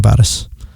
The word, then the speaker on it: Varis: Your husband, Varis, is Varis, right? I say it with the proper Armenian pronunciation, Varis.